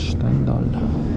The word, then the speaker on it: Штендаль: Сейчас видите кадры из Штендаля, правильно говорить Штендаль, и мы стояли буквально минуту или меньше там, потому что поезд задержался минут на 15 минимум.